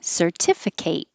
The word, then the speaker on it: certificate: which it could be certificate certificate the spelling stays the same the only difference is the ending kit kate and it sounds like a girl's name kate political political the